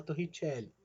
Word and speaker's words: Torricelli: de torre telli né se escreve torricelli nós se fala tô ritiele é a relação entre